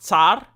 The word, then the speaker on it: tsar: no you okay so tsar is actually pronounced tsar i'm telling you because i'm from eastern europe okay so the russian